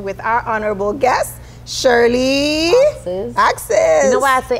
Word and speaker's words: Auxais: Yeah, a lot of people want to say Auxais, Auxais, but okay. My dad made it up, and he was very determined that our last name, people, is pronounced Auxais.